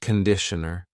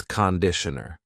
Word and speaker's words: conditioner: It's not conditioner, it's conditioner. The first vowel is a schwa.